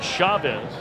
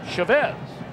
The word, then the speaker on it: Chavez: may be wondering know you've heard him called Chavez and we asked him about it and he said he doesn't really mind either way he said but his father has always uh pronounce the family name Chavez so you always want